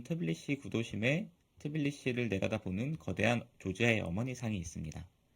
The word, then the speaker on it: 조지아: 시작하기 전에 제가 잘못 얘기한 게 하나 있는데 그루지아는 러시아식 발음이었고 2008년 러시아와 전쟁을 했었다고 했잖아요. 그 이후에 조지아 정부는 영어식 명칭인 조지아를 공식적인 발음으로 사용하고 있습니다.